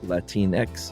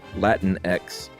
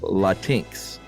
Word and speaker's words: Latinx: However, some people say Latin X or Latinx. Lat Latinex sounds right because it's Latino Latina. Sure. Latin X. Yeah, that makes sense. Or Latinx rhymes with Sphinx.